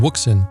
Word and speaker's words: Wouxun: capable cb radio available from wookson pronounced ocean or wookson so when you purchase